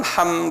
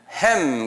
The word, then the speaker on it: 함: 순서대로 돼 있어 성경에는 그다음에 함이죠함은 한국말로 함 그러지만 영어권 사람들은 햄 그래요 그 그분들이 잘못 발음하는 거예요에 우리 발음인 맞아요 원어의 함이에요이 영국계 사람들이이 성경에 나오는